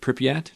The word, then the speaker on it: Pripyat: This is the 6 tourists that hire an extreme tour guide who takes them to the abandoned city of Pripyat. Did I pronounce that correctly?